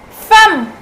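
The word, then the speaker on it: femme: what about husband wife wife in French is called fam fam fam yes fam fam and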